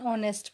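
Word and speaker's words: honest: और सिक्स्थ में ही इज़ एन ऑनेस्ट person. H silent है इसलिए वोवल साउंड आ रहा है इसलिए यहाँ पर एन का यूज़ किया गया है.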